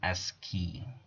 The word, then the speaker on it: ASCII: information interchange or a s c double i pronounced pronoun as key this is this is read as key in order to provide what is ascii standard american standard code for information interchange okay